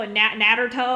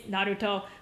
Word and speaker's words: Naruto: You know, most people Naruto or Naruto, it's Naruto. But when I say it like that, people, just because they're not used to hearing the Japanese version of it said, they don't understand.